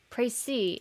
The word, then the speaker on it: précis: Précis. It is... Is it French? Yes, it's French. Okay, that's why the S is silent.